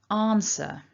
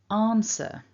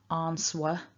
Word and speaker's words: answer: me nice and loud answer again answer and just one final note which is maybe the most important thing about this word that w is silent when we saw the